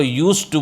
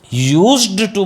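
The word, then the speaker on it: used to: हिंदी में यूज टू यूज्ड टू मत बोलना य ऐसे मत बोलना आप यूज्ड टू फलस नहीं पाएगी ड को चबाना है डी साइलेंट होता है हां फनेट में डी नहीं बोला जाएगा तो आप बोलेंगे य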